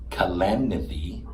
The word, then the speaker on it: Kalanithi: prose biography, When Breath Becomes Air by Paul Kalanithi. I think I pronounced his name wrong. Kalanithi, also merit strong consideration as the backstop for such an exploration.